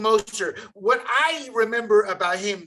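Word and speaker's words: Mostert: master to the dolphins is that how you pronounce his name moster yeah raheem moster what i remember about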